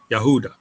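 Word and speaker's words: יהודה: notice we have first an open syllable yah another open syllable who and then a closed syllable da perfect that's how you pronounce it in Hebrew yaha yahuda now what people are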